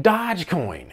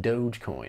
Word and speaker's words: Dogecoin: i was like oh you mean dodge coin and they said no it's pronounced dogecoin so egg on my